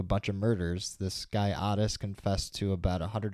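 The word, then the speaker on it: Ottis: his name oddest tool it looks like Otis but it's pronounced oddest apparently so yeah these guys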